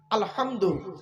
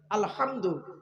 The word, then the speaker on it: আলহামদু: বোনেরা শুদ্ধ করে নিন আলহামদু গলা ভেতর থেকে হে এটা উচ্চারণ করবেন আলহামদু আলহামদু মানে হচ্ছে সমস্ত